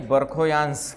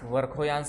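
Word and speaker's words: Верхоянск: आ रहा है भाई बरखोयांश वर्खोयांश बताया था ना यहां पे है वर्खोयांश बी से स्पेलिंग वर्खोयांश वरखोयांश हिंदी में बरखोयांश बोल देते हैं क्लियर हुआ?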